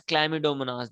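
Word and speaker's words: Chlamydomonas: these name amoeba clamidomonas clammy domonas okay you will pronounce it as climadomonas then para misham amoeba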